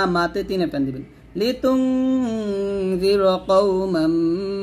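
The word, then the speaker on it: لتنذر: এইগুলো করা যাবে না লিতুনজিরা বলবেন রটাকে মোটা করে উচ্চারণ করবেন লিতুনজিরা কওমান মা কওমাম গুণ হবে মাম মা মাতে তিন টান দিবেন লিতুনজিরা কওমান মা উনজিরা উনজিরা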